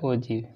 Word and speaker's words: ogive: इसको दूसरा नाम क्या है इसका, ओजीव, OGIVE, क्या प्रोनाउंसिएशन इसका, ओजीव।